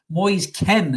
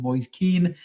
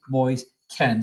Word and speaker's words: Moise Kean: And it's Moyes Ken is I believe the pronunciation. Everyone called him Moyes Keen at Everton. It's actually Moyes Ken.